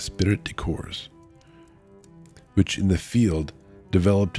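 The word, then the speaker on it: esprit de corps: strong practical sense of ispiritic corpse or course cuz the P is silent I believe is spirit decors which in the field developed into the finest thing that arose out of the war comradship.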